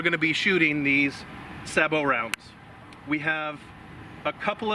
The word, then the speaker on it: sabot: There's like, I've heard like 5 different pronunciations for sabot, and sabots, sabots, sabo. You know, I mean, there's just a lot of. We just say sabot. It may not be right everywhere, but it's We